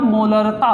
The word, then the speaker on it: मोलरता: ठीक है, उच्चारण पर भी ध्यान दीजिएगा, मोलरता है, मोलैरिटी।